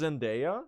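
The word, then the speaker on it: Zendaya: It's pronounced Zenaia. Is it?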